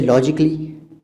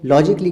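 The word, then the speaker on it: logically: जैसे आप पहला देखिए, ये लॉजिकली तो नहीं कह रहे हैं, लॉजिकली कह रहे हैं।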